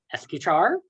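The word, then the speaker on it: escuchar: reevaluate and look how to say this is esky char which means to listen we want to listen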